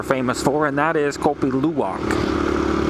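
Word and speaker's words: kopi luwak: But they also have another type of coffee that they're famous for and that is kopi luwok, right? Coffee luwalk or pronounced kopi luwok.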